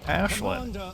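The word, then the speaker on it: Aislinn: And apparently the the correct pronunciation for this coming from Irish is Ashlin.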